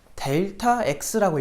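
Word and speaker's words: Δx: 근데 이거 읽을 때는 델타 x라고 읽으시면 돼요.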